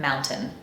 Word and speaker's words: mountain: and you will hear Mountain that depends depend on the context accent and personal preference but the prevalent pronunciation in American English is to replace that written t with a glottal stop and pronounce the word